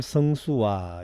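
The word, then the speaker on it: 星宿: 1월 성수와 요걸 수라고 읽어야 됩니다. 성수는 별자리라는 뜻이에요. 이게 원래 숙자잖아요. 자다 이 말이에요. 잠잔다 할 때 자다. 그 다음에 숙박하다. 수로 읽으면은 별자리라는 뜻이에요. 별자리.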